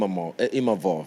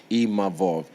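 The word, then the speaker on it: Imavov: to even nasen Im imav Sorry I learned how to say his name properly imov cuz you know we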